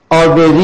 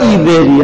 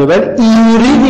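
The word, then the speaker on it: Avery: کارهای دانشمندی به نام آبری یا ایبری، هر دو تلفظ درست، توی متن نوشته ایبری ولی زیرنویس کتاب نوشته آبری، هر دو درست، ولی ایوری دیگه نیست.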